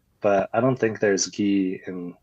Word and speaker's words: Ge: it's like Lee but I don't think there's gee in like Mandarin Chinese wait can you pronounce it really quick yeah it's G I'm